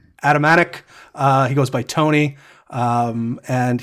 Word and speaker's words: Atamanuik: It's very difficult to pronounce his last name, but I want to say Atamanuik.